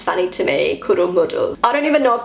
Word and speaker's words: Kuddelmuddel: and this word is Kuddelmuddel. That's how I say it. I don't know if I pronounced that right. This is the German pronunciation from Google. Kuddelmuddel. Kuddelmuddel.